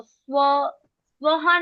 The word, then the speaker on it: स्वः: सिर्फ विसर्ग को हवा देनी होती है।